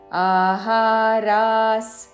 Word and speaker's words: ఆహారాః: హృద్య ఆహారాస్ సాత్విక ప్రియాః ఆహారాస్ మూడు దీర్ఘ అక్షరములు విసర్గ ఉచ్చారణ సహారాస్ సాత్విక ప్రియాః సాత్వి